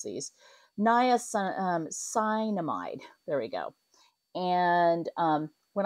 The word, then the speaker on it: niacinamide: It's got the niacin, see, I can't pronounce these. Niacinamide.